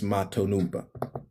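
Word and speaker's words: Mato Nunpa: Chris Matunumpa. Okay, Chris, just Chris, right? Mato, middle name, last name, Nunpa. So Chris Matonumpa, right?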